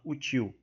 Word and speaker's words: hostil: tá explicado aqui que o ostil é uma palavra oxítona pois a sílaba tônica é a última otil E aí eu ainda